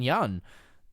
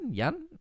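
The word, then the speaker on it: Yeun: you that don't know steven young yoon yun am i pronouncing that right i think it's i think it's young steven yun is to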